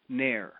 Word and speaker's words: NAEIR: NAEIR. You could NAEIR. NAEIR, like the NAEIR. Yeah. Okay, NAEIR. Yeah, right. Okay, NAEIR is rhymes with share. Okay. That's right. It rhymes with share. NAEIR.